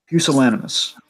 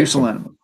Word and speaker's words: Pusillanimous: I finally got the pronunciation correct on this. Okay, so it's Pusillanimous. All right. Pusillanimous.